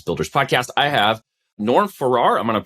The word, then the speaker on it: Farrar: high voltage business builders podcast i have norm farrar i'm going to pronounce that wrong tonight no you're perfect 100